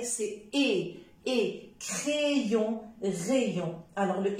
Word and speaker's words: crayon: tuyau d'accord rayon crayon attention il y a des personnes qui prononcent crayons c'est faux parce que ay c'est comme et s'il vous plaît évitez de prononcer a c'est et crayon rayon d'accord chaque fois que